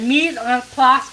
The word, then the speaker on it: mise en place: You said mise en place on point. If you said the word mise en place, that tells me that you have a little bit of training. Yes, mise en place is prep.